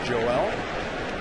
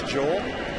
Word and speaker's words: Joel: this morning he said the Spanish pronunciation is Joel the American pronunciation is Joel he's okay with either oh we call Joel